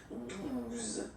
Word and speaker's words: douze: Okay, douze. O, U, the two together will give you the sound OO. Okay, and then Z. Douze.